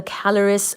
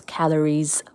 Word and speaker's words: Caloris: The largest impact crater on Mercury is called the caloris basin. This is spelled as C A L O R I S calories basin and it's approximately 1,300 kilometers in diameter. Wow. This impact crater calories basin is approximately again 1,300 km in diameter.